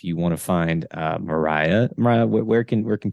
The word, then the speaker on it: Myriah: uh you can find me on Instagram at Mariah um it's spelled a little different m-y-r-i-a-h um or my